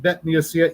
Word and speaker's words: bet: And bet can be pronounced either with a b or a vv sound.